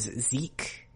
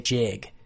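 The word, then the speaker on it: Sieg: are pronounced like z's g's at the end of words are pronounced like k's or like either either one it depends on the dialect but you could pronounce it as zeke or if you just want to give it like the most obvious like transfer to english you'd say jig both of them are acceptable but if it's ever written out is s-i-e-g then you'd probably want to pronounce it zeke so kumo numa kumonoma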